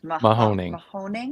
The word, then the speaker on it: Mahoning: you pronounce the name of the river that it crosses? Mahoning.